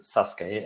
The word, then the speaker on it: Sasuke: it started in Japan as a thing called Sasuke not spelled like that but it's Sasuke and I think that was on I think